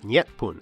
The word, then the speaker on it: Jih-pun: been called Wa, with the phrase Jipun, or perhaps pronounced more like Nyetpun at the time, meaning the sun's origin,